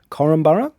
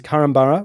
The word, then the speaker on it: Korumburra: Ruby is highlighting that we are pronouncing Korumburra wrong. So I think I might have said at some point Korumburra. I think I may have said that too. Yeah, look, we're probably both guilty of this. But it is Korumburra with a U.